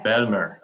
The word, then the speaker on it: Bijlmer: The Bijlmer? The Bijlmer, yeah. Bijlmer, yes.